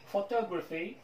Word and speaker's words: photography: photography photography graphy fay graphy هنا schwa هنا schwa.